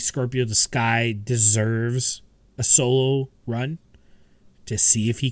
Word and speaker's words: Solo: And I remembered to get the pronunciation of Aaron's last name, Solo.